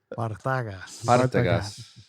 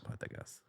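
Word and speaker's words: Partagás: You got to roll that R, baby. Partagas. Partagas. That's how they pronounce it there on the islands. Can you do it again? Partagas. Partagas. The accent on the third A.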